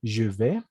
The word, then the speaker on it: je vais: Simplemente puedes decir je vais, nada más. ¿D'accord? Esta AI se vuelve E, pero la la E española. Je vais, la S no se pronuncia nuevamente.